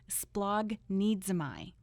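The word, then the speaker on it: σπλαγχνίζομαι: That word in Greek is splagnidzomai.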